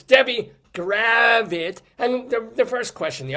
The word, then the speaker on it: Gravitte: First of all, it's gravit like a rabbit.